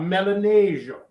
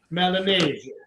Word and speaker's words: Milanesio: You got to say it almost like the mob. Melanesio. Like Melanesio.